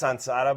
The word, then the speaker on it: Sensara: mess up this word is it Sora Sara SAR in Spanish it's sansar but it's kind of I